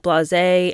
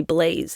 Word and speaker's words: blasé: And she would mispronounce words like blasé and say blaze instead.